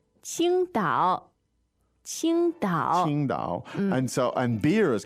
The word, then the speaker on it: 青岛: it and say 青岛， Qingdao. 青岛 Now watch 啤酒 out here for the spelling. An opinion, it's Qing. It looks like it might be spelled like Queendao. Qingdao.